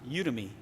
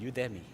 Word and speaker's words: Udemy: Some people pronounce it Udemy, and I pronounce it Udemy.